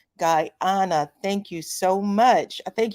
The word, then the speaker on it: Guyana: for joining me and she said it's pronounced guy on uh Guyana thank you so much